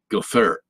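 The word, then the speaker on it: גֹּפֶר: It's not, it has nothing to do with a gopher. That's just the way the Hebrew word is pronounced, gopher.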